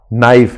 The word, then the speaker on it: knife: So please देखिए, जैसे English है, ठीक है, इंग्लिश में क्या होता है कि हम लिखते कुछ हैं, बोलते कुछ और हैं। क्या बात कर रहे हैं आप? हाँ, मान लीजिए हाँ, नाइफ है, अब उसकी स्पेलिंग क्या होती है? KNIFE, नाइफ। अगर आपको KNIFE बोलना हो, उस तरीके से बोलना हो जैसे आप लेटर्स को प्रोनाउंस करते हैं KNIFE, आप उसको प्रोनाउंस करके देखिए, क्या बोल पाएंगे आप? नाइफ।